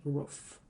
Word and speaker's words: Rough: Elle sera à leur image rough. Ça se prononce comme un aboiement, comme le chien là derrière.